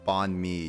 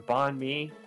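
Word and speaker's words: bánh mì: Bonmei. That's how you actually pronounce it. Not freaking bonmei, the Western pronunciation.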